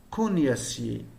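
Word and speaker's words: cognassier: Attention, ne prononcez pas cognacier, comme certains le prononcent. Non, cognacier, cognacier. Bien.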